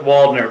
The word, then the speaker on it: Waldner: And Nick, is it Waldner or Waldner? Like, do you go with the whole German pronunciation, or do you go just with the W? We don't go that German. We just go with Waldner.